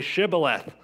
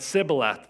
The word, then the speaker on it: shibboleth: they said then say shibboleth and he said sibboleth for he could not pronounce it right then they seized him